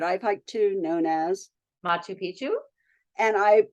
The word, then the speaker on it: Machu Picchu: and I pronounce it as Machu Picchu. What's wrong with that? Isn't it? How do you pronounce it Oh, again? oh, you're just saying you're putting the accent on a different syllable.